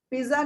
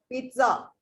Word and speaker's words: pizza: जो भी Italian word है ना जिसमें 2 Z आते हैं हाँ जी मैम. उसकी प्रोनाउंसिएशन देखो त और स हो जाती है.